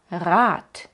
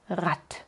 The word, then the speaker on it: Rat: Oy es la diferencia digo malen y no malen digo y no name y digo rat y no rat Esto es algo muy